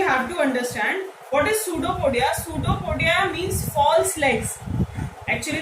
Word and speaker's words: pseudopodia: What is pseudopodia? Pseudopodia means false legs. Actually, the word pseudo means false. P is silent here.